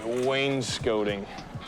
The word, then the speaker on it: wainscoting: Even though it's spelled scotting, apparently it's scoting.